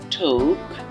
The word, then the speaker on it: talk: আমরা ছোটবেলা থেকেই পড়তাম এটাকে টক নামে, বাট এটা আদৌ টক না। এটি হচ্ছে যে আমাদের একটা ভুল উচ্চারণ ছিল। এটা সঠিক উচ্চারণ হবে ঠোক, ঠোক, ঠোক।